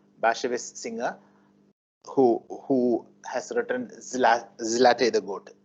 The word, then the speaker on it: Zlateh: Zlateh is supposed to be the pronunciation. Zlateh and Zlateh are different variations. Being a proper noun, you can pronounce it in whatever way. Of course, Zlateh, it seems, is the correct pronunciation.